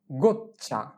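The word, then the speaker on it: goccia: এইটা আমরা পড়ি নাই গচা গচা গোচ্চা জি ও গো জি ও চি গোচ চি ই আ চা গ গচ্চা এখানে আমাদের দ্বিতীয় চি এর উচ্চারণ যাওয়া হবে প্রথম চি এর উচ্চারণ ঠিক তাই হবে তাহলে দ্বিতীয় চি এর উচ্চারণ হয় যদি চি এর পরে ই থাকে তাহলে চি এর উচ্চারণ হয় চ এর মত তাহলে প্রথম চি এর উচ্চারণ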